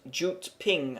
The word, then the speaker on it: Jyutping: this should be pronounced why ping itself is pronounced jute ping oh or uteping Jay it started pronounce oh